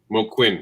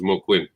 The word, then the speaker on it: Moquin: comics with ken moquin i'd probably say his name wrong uh panel reserves mo quinn quinn yeah it's the same way he pronounces it a friend of mine